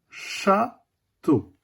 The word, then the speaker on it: château: Le son O s'écrit avec les lettres E, A, U.